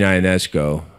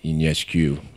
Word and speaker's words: Ionesco: Eugene Ionesco, or I think in Romania it's Ionescu.